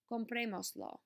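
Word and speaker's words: comprémoslo: object pronoun and get compremoslo. Okay, remember to add your accent when attaching another syllable. So 1, 2, 3, third vowel from the end.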